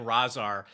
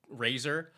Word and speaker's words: Razar: this, but it's I I think it's correct correctly Taka and Razar, even though it it you looks like it should be like Razer.